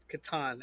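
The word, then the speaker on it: Catan: game Market yeah so how do you pronounce Claus toyer game Settlers of Katon yep I already knew the answer but I still wanted to to make sure yeah I yeah Katon absolutely they talk about a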